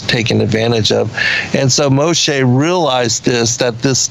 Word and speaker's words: Moshe: talk about mostly sir Moshe as you say it right yeah Moshe a that's the Hebrew name for Moses yeah and so Moses